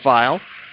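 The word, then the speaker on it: Pfeil: Cooper Tyson will stop and land on top of it for defenseman Jordan File. Not spelled like pick me up a File. It's P-F-E-I-L.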